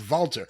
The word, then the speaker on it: Walter: it has to be although I believe it's pronounced Volta his real name is